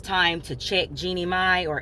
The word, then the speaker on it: Jeannie Mai: Today, I want to talk about what a master manipulator Jeannie May is. Actually, I think it's pronounced Jeannie Mai, but I call her Jeannie May.